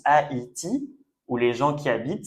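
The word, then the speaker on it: Haïti: is donc en fait ça permet de ne pas faire le son e d'accord et de faire le son a i. Donc par exemple, ça c'est un pays qu'on prononce Aiti où les gens qui habitent c'est a I sien.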